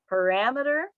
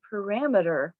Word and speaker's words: parameter: with the word that got us started today parameter and i'll do that first sentence there there's one very important parameter for this experiment the next one is diameter